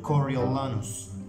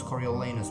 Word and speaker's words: Coriolanus: back to the pronunciation coriolanos coriolanos it's a tragedy of william shakespeare coriolanus i choose to pronounce coriolanus and from time to time i might pronounce coriolenus but the decision is